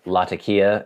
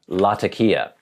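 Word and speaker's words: Latakia: word is pronounced and he spells out l a t a k i a lakia as we say but I know for sure it's not the white man version laka so I say lakia pretty much everyone in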